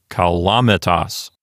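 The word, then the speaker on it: calamitas: So the accent goes over to the antepenult, which is the L-A syllable. So this word sounds like kalamitas.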